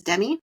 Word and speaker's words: Demi: You said her name is Demi. Am I pronouncing that correct?